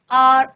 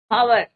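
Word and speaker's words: hour: आर, तो यू आर, कई बार बच्चे क्या कहते हैं? ऑनेस्ट, हावर, बट यहाँ पे क्या होता है बच्चों? एच इज योर silent.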